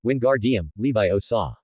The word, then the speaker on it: Wingardium Leviosa: You mispronounced the spell's syllables, which is why it only floated less than a foot high. Then, Joel earnestly mimed the wand movement and loudly stated, it should be, Wingardium, Leviosa.